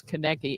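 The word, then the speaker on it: Koenecke: And I don't know if you That's how you pronounce Kcki.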